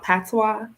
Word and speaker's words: patois: of people say jamaican but it's really called patois it's spelled p-a-t-o-i-s all right so i yeah i